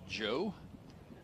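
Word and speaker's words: João: sophomore from Lisbon Portugal name is spelled Joao but he pronounces it Joe go back to the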